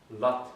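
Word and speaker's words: לאָזט: but the zayin here is silent. You don't usually pronounce it. Zayin is elided. Lot sich nicht aus.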